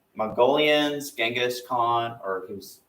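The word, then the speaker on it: Genghis Khan: back after that we'll talk about U Mongolians genas Khan or who's pronounced jenas Khan kuon and then the rise of the Ottoman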